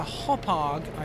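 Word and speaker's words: Hauppauge: So I had a Hopag, I think that's how you pronounce that, a H-A-U-P-P-A-G-E, a HD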